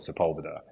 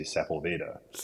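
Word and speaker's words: Sepulveda: road in Los Angeles called Sepula, but to me I would say sephylveda. But so it's that, you know, that's the equivalent for me being an ignorant foreigner and not understanding those words.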